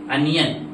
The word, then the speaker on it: onion: तो इसका तलफ्फुज यानी इसका उच्चारण ओनियन नहीं है, इसका उच्चारण है अनियन।